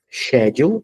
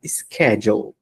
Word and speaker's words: schedule: shedule então é interessante esse verbo tem duas leituras né duas pronúncias Schedule ou senão Schedule agora ele tá marcado